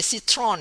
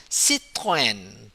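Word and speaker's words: Citroën: the road you know don't say Citron anymore you have to say sit coin what I said to celebrate francaise sit in sit coin okay it is a Citron sit in what your phone says sit coin and then lastly this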